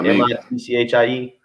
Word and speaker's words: Michie: Michie Stadium? Yeah, MITCHIE.